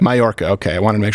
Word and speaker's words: Mallorca: How do you pronounce this here, Lane? Mallorca. Mallorca.